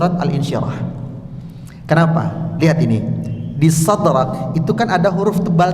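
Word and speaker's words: صدرك: Tiba-tiba di ujung ketemu huruf hames. Sadrak. Banyak yang terhanyut dengan ketebalan tiga huruf pertama berlanjut di huruf terakhir. Jadi shadraq.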